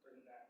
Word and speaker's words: Bernadette: Like even for me, I very similar to Bernadette. Like, am I pronouncing it right?